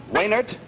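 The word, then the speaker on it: Wejnert: Wainert. W-E-J-N-E-R-T. You don't pronounce the J, is that it?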